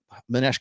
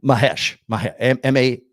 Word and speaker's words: Mahesh: Manesh gives me, is it Manesh? I'm going to make sure I pronounce his name right. Yeah, Mahesh. M-A-H-E-S-H. Sorry, I was mispronouncing your name, bro.